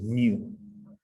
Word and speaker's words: mu: The way you pronounce it is you pronounce it as mu, but it's a squiggly M.